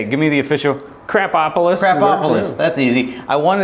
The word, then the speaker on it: Krapopolis: Crapopolis. Crapopolis. That's easy. I wanted to say Krabopol.